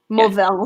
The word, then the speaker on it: Mourvèdre: It's got an accent on the E. It's MOURVE''DRE. I assume that's a French grape of some kind. I just assume. And then 17%. Yeah. Mourvèdre. You got it. Yeah, that sounded better than mine. Yeah. No, but it's DRE, not RD.